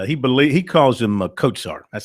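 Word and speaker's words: Kotsar: pronounced Mike and he believe he calls him katar that's how he pronounces the last name k o TS a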